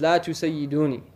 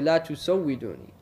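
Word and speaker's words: لا تسودوني: There's a hadith that says La tusayyiduni. Right? And it's a corrupt hadith, because if you wanted to say it properly, you say La tusawwiduni. You wouldn't say Sayyiduni.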